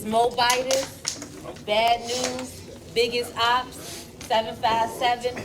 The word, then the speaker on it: Moabitess: It's Moabitess.